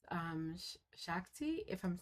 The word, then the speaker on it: shakti: And in Indian culture, it's um shakti. If I'm saying it wrong, please correct me. Um in Hindu philosophy, feminine beauty represents cosmic energy. The divine feminine is called shakti.